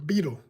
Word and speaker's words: Betil: Her name was Beetle. It's spelled Betil. Beetle.